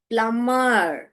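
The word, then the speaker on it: plumber: ब साइलेंट, ब ब ब प्लम्बर। साइलेंट वर्ड्स भी लास्ट में हम डिस्कस करेंगे। अभी आप बस इतना जान लीजिए कि इस वर्ड में बी जो है साइलेंट है, आप प्लम्बर नहीं बोलोगे।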